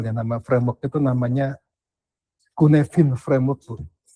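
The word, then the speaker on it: Cynefin: nama framework itu namanya Kunevin framework Bu. Jadi istilahnya itu tulisannya Sinefin ya, tapi dibacanya kuhnefin karena bahasanya bahasa Wales ya.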